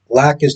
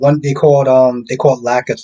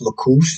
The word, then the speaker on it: Lacus: So they just started mispronouncing names, and I'm just like they called Lacus Lacouche, and I'm just like